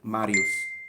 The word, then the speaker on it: Marius: in proper classical oh circa first century classical latin you would just say marius marius okay right if i